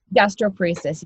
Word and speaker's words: gastroparesis: sharing some of the um you talked about gasteoparesis is that how you say it gastroparesis yes and so yeah i have a few